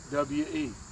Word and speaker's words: Gugwe: It's called Gudway, Gugway. which is Gugwe.